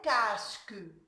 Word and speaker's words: casque: Aussi, un casque. Un casque, le C ici, on doit concentrer sur le son S et pas de C ici, il se prononce K parce que il est devant une voyelle A.